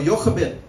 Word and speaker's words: Jochebed: Amram and Jochebed, amen, or Jochebed, if you want to pronounce it like a Hebrew, saw that it was time for the word to be fulfilled.